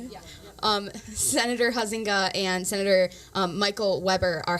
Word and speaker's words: Huizenga: Senator Mark Huizenga, is that how you say it? Yeah. Senator Huizenga and Senator Michael Weber are having coffee hours March 17th for Huizenga and March 20th for Weber.